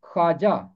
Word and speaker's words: خواجہ: میں نہیں آئے گی۔ تو یہاں واو مادولہ ہے اور اسے پڑھا جائے گا خواجہ۔ اس کا تلفظ خواجہ نہیں ہے، اس کا تلفظ ہے خواجہ، خواجہ سرا۔ اور محلات کے